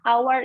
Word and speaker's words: hour: person bisa dibahas ya hour itu depannya memang ha tapi pengucapannya hour hanya tidak disebut makanya menggunakan and his